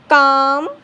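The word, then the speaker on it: calm: जब एल से पहले ए आए या ओ आए या यू आए तब एल साइलेंट होता है। जैसे यहाँ देखिए एल से पहले ए आया है तो एल साइलेंट होगा, एल से पहले यू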